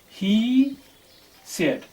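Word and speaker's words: Hesiod: o i d and you can pronounce it like it is he said it's he said he said was uh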